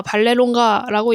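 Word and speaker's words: Vallelonga: 얘기하니까 토니 신분적을 보면서이 성은 어떻게 읽어? 물어봐서 토니가 아 발레론가라고 읽으면 돼요. 해서 무슨 성이 이래 약간 이런 식으로 경찰 빗고잖아요. 그래서 토니가 아 이탈리아라서 이탈리아 성이에요.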